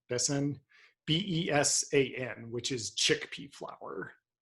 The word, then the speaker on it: besan: they typically add i don't know how to pronounce it bason besan b-e-s-a-n which is chickpea flour but probably not